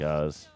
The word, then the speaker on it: Oz: Just like OZ, Oz, but it looks like Oz. Oz Perlman is his name. It's pronounced Oz, but okay.